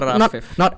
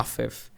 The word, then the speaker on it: Rafif: So it's supposed to be pronounced A, like, you know, alpha, not Rafif.